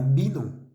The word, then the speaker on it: vin: La V pequeña vamos a pronunciarla con los dientes de arriba contra los labios de abajo. Vin, vin. Se siente una vibración en la garganta.